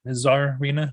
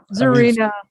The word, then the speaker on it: Czarina: i pronounce that right czar reena or is it zarina i i notice that a lot of people tend to really over pronounce the tsar part all good so um